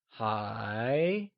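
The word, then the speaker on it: 还: let's start with still still translates to high and is pronounced using a mid rising tone or the second tone can you try and say hi it is said with a mid rising tone like hi good job let's see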